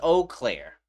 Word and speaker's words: Eau Claire: They pronounce it as Eau Claire. I don't like it. That's what I'm saying. I don't like it. Right. This is my town. Right. And I'll say all Claire if I want to say all Claire, all right?